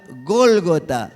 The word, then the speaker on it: Gólgota: Y llegaron a este lugar, hermanos, que en hebreo se pronuncia Gólgota.